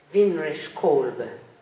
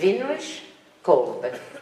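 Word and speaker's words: Winrich Kolbe: Weinrich Kolbe. That's how you say it. Weinrich Kolbe, German.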